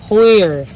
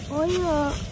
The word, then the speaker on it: Hoyer: Chứ tiếng Anh đọc là. Right? Oh. Oh. Hoyer. Hoyer.